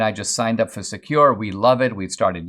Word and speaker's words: Sekur: way well fortunately yes there is secure which is spelled s-e-k-u-r offers secure instant messaging and email hosted in Switzerland without